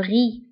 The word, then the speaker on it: riz: فهنا أيضا le riz كنكتبوها بزاد في آخر الكلمة ولكن لا تنطق le riz.